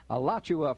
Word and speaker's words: Alachua: box 1920 oh my goodness how did she pronounce that again alachua oh thank you richard a alachua florida three two six one five and they're